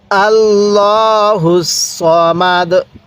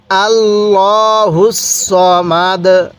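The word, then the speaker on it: ٱللَّهُ ٱلصَّمَدُ: কুল হুয়াল্লাহু আহাদ, আল্লাহুস সামাদ, আল্লাহুস সামাদ। অনেকে আল্লাহ পড়ে আর এখানে সা পড়ে না, আমি কিভাবে পড়তেছি আপনি শুনবেন। আল্লাহুস সামাদ, আল্লাহুস সামাদ।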